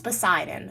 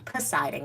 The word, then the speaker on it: Poseidon: Here comes Poseidon, okay? I'm saying his name wrong. Poseidon, right? That's his name.